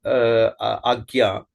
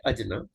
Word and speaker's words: Ajna: So, Agnya, Agnya, British could not pronunciate Aggya, because Aggya, that part is not there in any other language. Very few language have that particular thing. So they started Ajna, and if current Hindus